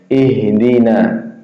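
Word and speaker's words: اهدنا: Huruf ha makhrajnya di tenggorokan bagian bawah. Ya, kalau sifatnya huruf H itu mempunyai sifat yaitu sama kayak saudaranya yaitu apa? Hams. Nafas berjalan keluar ketika kita mengucapkan ha apalagi sukun ya.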